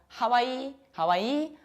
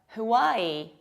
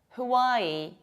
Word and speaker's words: Hawaii: Another state of beautiful beaches in nature is not called Hawaii, but Hawaii. Hawaii. Some people also might pronounce it like Hawaii, but local people of the islands pronounce it like Hawaii with a glottal stop.